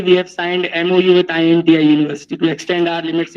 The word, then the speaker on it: INTI: our inti International University the inti is not any short form is basically we pronounce it as inti so do this int